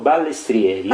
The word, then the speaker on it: Balestrieri: Giorgio Ugo Balestrieri.